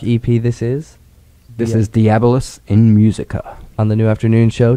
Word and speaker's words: Diabolus in Musica: I think you've mispronounced it a bit too. There, Lee. I didn't write that. So it's actually called Diabolus in Musica, and okay, it's based on...